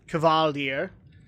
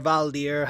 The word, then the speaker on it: Kvaldir: go through this gauntlet of Kvaldir, or Valdir, however you want to say it. Because I noticed that Cataclysm's pronunciation and Legion's pronunciation are different.